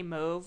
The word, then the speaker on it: mauve: cuz people that say move it's like oh move you you you don't say mauve it's an alternate pronunciation and it's very telling unless you're an interior decorator or a designer say mauve seriously they they made her